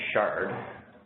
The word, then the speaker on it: Shard: I don't think it's the Chart. I think it's the Shard.